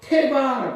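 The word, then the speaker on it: תבה: 자 하나님께서 노아에게 방주를 지어라 하셨는데이 방주는 예 히브리어로 태바라고 합니다. 태바 한번 따라해 보실까요? 태바. 예. 발음 조심하십시오. 대박이 아니고 태광입니다.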